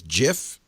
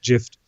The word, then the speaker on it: GIF: But doesn't the guy who invented it, didn't he say it's GIF? I think so, but hey, you put a T at the end, it's gift. That's not pronounced gift.